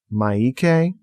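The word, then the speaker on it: Miike: all the time so it's m-i-i-k-e maike takashi maike yes i'm probably going to keep pronouncing it wrong sorry everybody anyway agitator the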